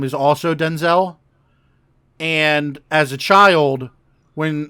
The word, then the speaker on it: Denzel: get confused so she started pronouncing his name differently and they basically didn't change the spelling but they changed the pronunciation of his name to Denzel really yep he'll always